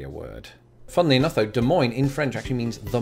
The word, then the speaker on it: Des Moines: is when I say it I've been saying Des Moines because that sort of might corrupt an attempt